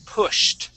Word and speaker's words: pushed: Okay, so yes, pushed. Okay, so that ED is going to sound like a T, pushed.